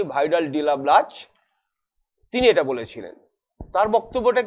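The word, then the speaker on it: Vidal de la Blache: ফরাসি ভূগোলবিদ ভাইদাল দালা ব্লাস, বা অনেক সময় আমরা উচ্চারণটা করি ভাইডাল ডিলা ব্লাচ, তিনি এটা বলেছিলেন।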